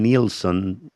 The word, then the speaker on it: Nielsen: Y no se le olvide, Samuel, Samuel Nilson se pronuncia, pero se escribe Nielsen. Samuel Nielsen, el nuevo canal del pastor donde hay mucho contenido que nos va a edificar.